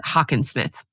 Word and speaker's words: Hockensmith: Not Hockensmith, Hockensmith. Oh, okay. Is how you pronounce it.